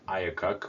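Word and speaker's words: IACUC: animal care and use committee which apparently is pronounced iacocc which is just kind of weird but whatever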